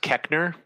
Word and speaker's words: Koechner: Did you know I once heard David, I think it's pronounced Koechner, who plays Champ Kind, say that the original